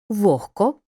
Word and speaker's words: вогко: дзвінкий приголосний не оглушується Але у словах нігті кігті легко вогко дігтяр і похідних пишемо г вимовляємо х префікс з перед глухим